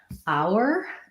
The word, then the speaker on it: hour: so here's another homophone it's the same pronunciation as the word hour liked at the time our like the possessive and it starts with the vowel ow ow like in brown cow which looks like oh